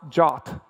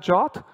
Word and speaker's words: JWT: is pronounced like the Greek letter Omega it's pronounced jot and I know some people call it jot but more people call it jwtn including myself